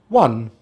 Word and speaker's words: one: we have one, one, one. This one is also a homophone, meaning it rhymes with another word but has a different meaning to this word, as in yeah i WON a race!